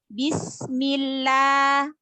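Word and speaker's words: بسم الله: Yang kedua, lafzul jalalah dibaca tipis apabila huruf sebelumnya berharokat kasroh ya atau baris bawah. Contohnya bismillah ya. Bismillah. Bismillah, maka la-nya tipis.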